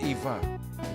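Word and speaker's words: Ewa: Actually, it's it's pronounced as Eva.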